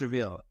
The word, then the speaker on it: REV3AL: Goa, and advisor of, it looks like Reveal, but it's REV3AL. Yeah, that's how it's pronounced, Reveal.